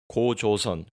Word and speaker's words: 고조선: Gojoseon. My Korean pronunciation, a bit off. 고조선, 고조선.